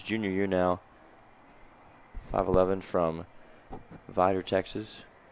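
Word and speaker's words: Vidor: His junior year now, 5'11 from Vider, Texas. Pronounced that right. Yeah, I think I mispronounced that last time. I did. Is Vider Texas. Got to have a little twang when you say that one.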